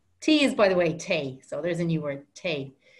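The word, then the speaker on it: tae: day or sorry tea is by the way tay so there's a new word you drink tea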